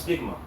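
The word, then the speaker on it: στίγμα: You know, that word mark there in the Greek is pronounced stigma.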